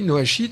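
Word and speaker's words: noachide: totalement inconnu oui d'ailleurs je vais bien préciser Noa sheet c'est les lois de Noé et dont les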